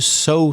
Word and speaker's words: sow: and the verb to sow seeds that's s-o-w because there are a few words in english which sound so we've got so we've got s-o-w and we got but